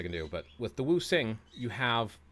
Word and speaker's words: wuxing: like a Z, but in Pinyin, which is the Romanized version of Chinese writing, such as languages like Mandarin or Cantonese, the X makes an SH sound, so it's Wu Sing. Wu Sing.